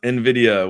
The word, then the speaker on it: Nvidia: everyone off now uh is pronounced Nvidia which is the Spanish word for Envy uh dip had me